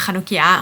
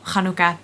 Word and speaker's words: Chanukkah: So you will probably have seen either a meme or just noticed that people spell Chanukkah differently. Now, being Dutch and pronouncing the ch as that sound, I spell it CH.